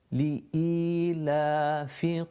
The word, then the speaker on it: إيلاف: And the fa again with the kasra has a very short sound to it. It's not elongated. Again, لإيلاف قريش.